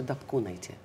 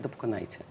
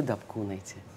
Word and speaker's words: Дапкунайте: Вот скажи, ты же в Литве зовешься Дапкунайте, правильно? Да. Почему ты не научила все русское общество произносить правильно твою фамилию? Почему они все говорят Дапкунайте? А ты Дапкунайте.